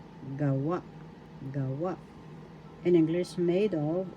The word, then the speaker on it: gawa: English or reason gawa gawa first syllable ga second syllable wa the accent is in the second syllable wa gawa gawa gawa in english made